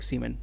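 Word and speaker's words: siemens: उसको बोलते हैं हम लोग सीमेन। इंग्लिश में सीमेन बोलते हैं।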